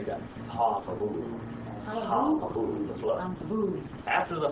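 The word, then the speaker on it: הַמַּבּוּל: Ha-mabu. Say that. Ha-mabu.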